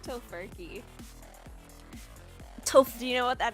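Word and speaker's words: Tofurky: I like tofurkey.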